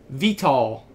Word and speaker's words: Vital: It's time for another Vital Lacerda game.